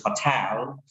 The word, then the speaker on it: hotel: We may say hotel. The right pronunciation for the native speakers it is hotel.